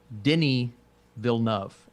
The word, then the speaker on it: Denis Villeneuve: new Dune from director Denis Villeneuve, help me out here, Austin. Dude, listen to this. It's Denis Villeneuve, and it took me 2 years to figure that out.